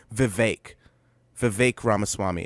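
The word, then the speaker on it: Vivek Ramaswamy: __ ] name wrong vi vi ramaswami it's not V it's V Rhymes cake yeah he made a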